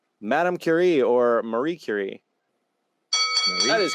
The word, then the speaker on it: Curie: They say it's Madame Curie or Marie Curie. That is correct. Curie. Nice. I knew it as Nicely Marie done. because it rhymes. Marie Curie rhymes.